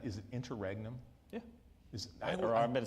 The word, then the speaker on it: interregnum: And during this kind of, how do you pronounce it? Is it interregnum?